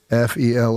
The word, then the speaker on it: fell: One F-E-L-L. F-E-L-L. One fell swoop. Okay. So if nothing else, you've learned how to pronounce the appropriate idiom, one fell swoop.